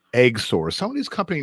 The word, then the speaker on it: XOR: company called Eggsor, and it's spelled XOR, pronounced Eggsor.